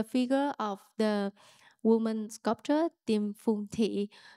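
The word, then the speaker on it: Điềm Phùng Thị: to connect yourself to, I have to pronounce it well, Dimfunkti. Perfect. Perfect now. We exercised on that a little bit. Dimfunkti.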